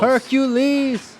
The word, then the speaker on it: Hercules: Hercules hurt my knees Hercules that's three syllables Hercules that ain't no G